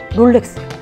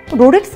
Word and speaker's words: 롤렉스: 했는데 어떤 분들은 어 롤렉스 였어 로렉스 아니야 이렇게 생각하시는 분들이 많은데요 첫번째로 소개시켜드릴 브랜드가 바로 롤렉스 에요 롤렉스는 ro lex 잖아요 근데 로렉스 든 롤렉스 등 왜 대원 이기 때문에 우리는 그것을 뭐라고 발음 하든 상관 없다고 말할 수도 있지만 한국에는 정확한 베러 흡 여기 있어요 그래서 그걸 정확하게 롤렉스 코리아 라고 하지 로렉스 코리아 라고 표기 하지 않거든요 네이버에 아마 로렉스 라고